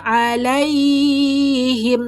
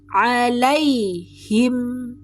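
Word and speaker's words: عليهم: alaihim, lai harful lin, tidak boleh dipanjangkan, tidak boleh alaihim, no, tapi alaihim, mim tetap punya sifat dengung, ada jejak dengung.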